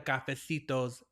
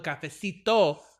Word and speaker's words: Cafecito: it's the Spill the Cafetos podcast. And I'm sorry, I said it wrong. It's spill the capesito podcast. No s.